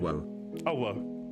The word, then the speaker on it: Owo: This is her name. This is how it's pronounced. This is how it's typed. This is her name. Owo.